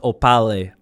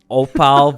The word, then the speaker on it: Aupale: So once again, it's Anthony Boccardi, Aupale Vodka, not pronounced Aupale. Aupale Vodka.